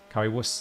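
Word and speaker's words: Currywurst: a nice Curry wuss Curry wuss is how you pronounce it know you know that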